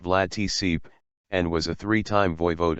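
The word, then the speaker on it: Vlad Țepeș: He was posthumously dubbed Vlad the Impaler, Romanian, Vlad Ep, pronounced Vlad Tsip, and was a three-time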